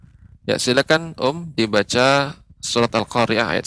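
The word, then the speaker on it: القارعة: secara umum bagus pengucapannya, sekalipun yang perlu diperhatikan yaitu al-qari'ah.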